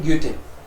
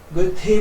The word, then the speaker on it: Goethe: ग्योटे क्यों बोलते हैं? क्योंकि एच साइलेंट रहता है. गोथे बोल देते हैं हम तो हिंदी के कारण, लेकिन एच साइलेंट रहता है तो ग्योटे आप ज्यादातर जगह सुनोगे ग्योटे.